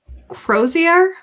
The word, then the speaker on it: crozier: No, it's the Crozier.